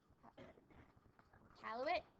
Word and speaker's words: Iqaluit: Iqaluit? No, I said it right. Iqaluit, right?